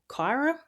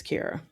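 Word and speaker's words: Keyra: So from what I could see Googling it, it's Keira. So it's k e y r a. I would have pronounced Keira Kyra. But Google says it's Keira.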